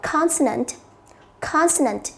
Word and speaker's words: consonant: Câu C, nó là một danh từ, chúng ta đọc là consonant.